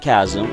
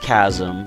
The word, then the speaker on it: chasm: has a lonely nature met in the giant chasm yes I know it's pronounced chasm I like having fun with the mispronunciation but